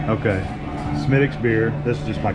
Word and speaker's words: Smithwick's: Also drinking Smithwick's. Smittix. Have I been saying it wrong? Okay. Smittix beer.